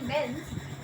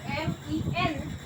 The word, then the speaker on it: men: When we convert it into plural, we never say men's. We change the spelling, it becomes M-E-N and it is pronounced as men.